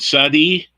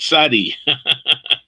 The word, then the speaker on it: Tsade: other letter has that that we have in english there is no so you have to put a t z or a t s to get that sound which sounds like a